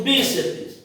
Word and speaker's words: bíceps: E por último nós temos bíceps. Acento no bi. É a sílaba tônica, última, penúltima e termina em PS.